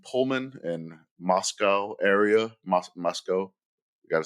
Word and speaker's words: Moscow: Mos Moscow.